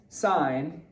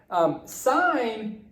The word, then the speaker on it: sine: any sign s I and okay now sine pronounced sine sine is defined in a triangle as a ratio